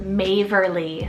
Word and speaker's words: Maverly: the ocean a little bit longer here is maverly so m-a-v-e-r-l-i-e-maverly now this one is just kind